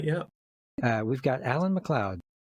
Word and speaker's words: MacLeod: Uh we've got Alan MacLeod. It's great to be with you, Chris. How are you? Yeah, and it's pronounced MacLeod for everybody that maybe is confused about that.